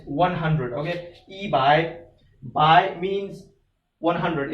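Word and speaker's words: 百: It's actually, the pronunciation is same as in English. We say by, but it's not actually that one by, but just the pronunciation we can use the same as English.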